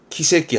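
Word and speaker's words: 奇跡: 그래서 기적, 발음은 키세끼 합니다.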